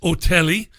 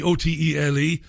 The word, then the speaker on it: Otele: Her name is Olivette Otelli. Olivette Otelli, Otele.